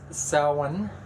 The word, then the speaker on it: Samhain: We're going to start with Samhain. It's spelled actually Samhain, S-A-M-H-A-I-N, but it's said as though it's spelled S-O-W-E-N, okay? And some people S-O-W-E-E-N.